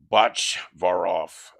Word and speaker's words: Botchvaroff: Uh Sam uh Samuel George known as Sam Botch Varov uh is how you pronounce it.